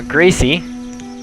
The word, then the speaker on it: Gracie: Now Gracie, there's two E's, so it is pronounced Grace E, has her choice.